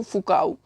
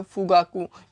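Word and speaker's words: Fugaku: है, आपको मैंने पहले भी बताया था, फुजित्सु फुकाऊ। क्या नाम है, देखिए, फुजित्सु फुगाऊ, फुगाकू, ठीक है, फुगाकू, याद रखना है, ऐसे ही है, कुछ प्रोनाउंस कर लेना आप।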